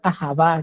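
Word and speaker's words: אהבה: Porque cuando el verdadero amor, el amor ágape, el amor ajabá, que como se pronuncia en hebreo, que lleva la idea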